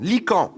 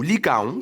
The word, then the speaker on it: Lycaon: dire * * En visite chez le tyran "Lycan", ou "Lycaon" selon les prononciations, il s’annonça comme le dieu Zeus.